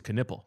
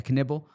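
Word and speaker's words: Knueppel: I believe it's Knipple. Yeah, Knibble. It rhymes with nipple.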